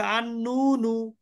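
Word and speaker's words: النون: নুন এটা হবে কিন্তু যখন আলিফ লাম দিবেন তখন কি হবে আন নুনু নুন বুঝতে পেরেছেন মানে স্পেলিংটা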